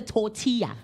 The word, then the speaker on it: tortilla: You guys kept saying tortilla. I'm like, "But it's a tortilla." Like, listen to the L. You don't say. It's a tortilla. Tortilla because you don't say the L.